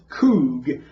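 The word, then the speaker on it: חוג: Concordance in the Hebrew, and it's kug. That's how you pronounce it, kug.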